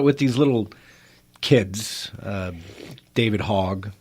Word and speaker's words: Hogg: Yeah, and I think about it with these little kids, David Hogg, right, that are out there.